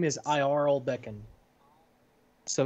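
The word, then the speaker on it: Iaral: His name is Iarl Beckon. So it's spelled I-A-R-A-L.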